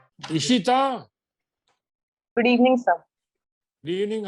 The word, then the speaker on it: Ishita: TA or THA? Sir, TA. वो तो spelling है, लेकिन बोलने में क्या बोलते हैं? ता या टा? Sir, Ta. ता.